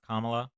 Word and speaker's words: Kamala: you uh okay so first of all it's pronounced comma um so her policies um she had four